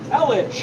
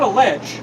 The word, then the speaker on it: Elledge: Elledge, yeah, Elledge, not a ledge, Elledge.